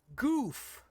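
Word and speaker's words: Gouf: For God's sake, Sunrise named a mobile suit Goof. Goof. That is its proper name and pronunciation.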